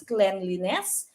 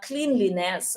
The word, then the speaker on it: cleanliness: now by the way you pronounce this as cleanliness not cleanliness okay so is it